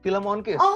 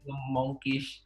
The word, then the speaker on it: Filmonkish: Ada yang bilang film On Kiss, ada yang bilang film Monkish, yang sebenarnya adalah film Monkish.